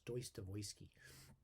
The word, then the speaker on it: Dostoevsky: i re-read dostoevsky or or is he's pronounced properly pronounced deutsche if you do know russian have you studied russian language it's deus devoisky and uh the uh